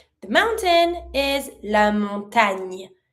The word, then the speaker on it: montagne: The mountain is la montagne. Careful, not montagne, nya sound.